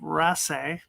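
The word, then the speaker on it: Raasay: letters this is from the aisle of Ras that's how you pronounce it which means the uh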